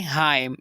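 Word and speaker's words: hymn: तो हमने एन को नहीं पढ़ा और इसकी प्रोनाउंसिएशन की लाइम। सेकंड एग्जांपल है हाइम।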